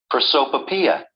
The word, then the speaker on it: Prosopopoeia: How is this pronounced? Prosopopoeia.